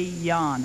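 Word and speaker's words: Jahn: The recommendation of the Criminal Division was that that would be Mr. Ray Yan. I believe the last name is spelled J-A-H-N, who had had extensive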